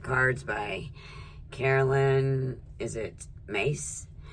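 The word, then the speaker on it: Myss: Is it Mace? Spelled M-Y-S-S, but I think it's pronounced Mace.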